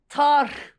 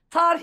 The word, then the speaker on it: tarh: Telaffuzu biraz güç. Tarh ile başlıyor. Son H'yi vurgulayacaksın hayatım. Tarh ile başlıyor.